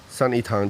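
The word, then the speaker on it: 三一堂: Sanyi Chang? Tang. Oh, Tang. Sanyi Tang, Trinity Church.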